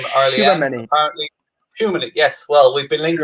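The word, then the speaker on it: Tchouaméni: TCHOUAMENI, and I've got no idea how you pronounce her first name. Arlian, apparently. Shumani, yes.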